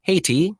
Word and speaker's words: Hati: The school name is pronounced Cheetah, like the cat, C-I-T-A, and Haiti, H-A-T-E-E, if anybody wants to look this up.